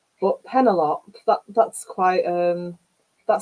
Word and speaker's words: Penelope: the traditional pronunciation but penelop that that's quite um that surprises me I even had pen a plop once which probably start calling